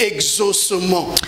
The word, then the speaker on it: exaucement: Vous remarquez que c'est la même prononciation.